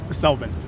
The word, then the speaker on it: Selvin: Selvin. How do you spell it?